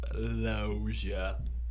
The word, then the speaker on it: Loggia: um also robert loggia his name is robert lozia i'll spell that for